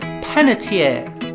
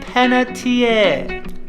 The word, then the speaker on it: Panettiere: the next one is hayden Panettiere hayden Panettiere so again there's no R in this one the next one